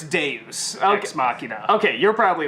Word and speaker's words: deus ex machina: Okay, so it's sort of a deus ex machina a little bit, you know, because it's like